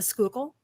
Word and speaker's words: Schuylkill: The river that is spelled Schuyylkill, and that is the Schuylkill.